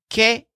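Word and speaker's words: qué: But since the shepherd just now yelled, Kay, what Joel says is, "Que is that?" The word que, pronounced kind of like the name Kay, basically means what in a question.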